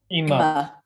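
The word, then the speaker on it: אמא: the mother of mine how do you say mother eema it's usually like emma or uma so now let's say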